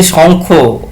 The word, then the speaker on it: Shankho: Uh, so it is actually Shankho. We Bengali write A, but we pronunciate it as O.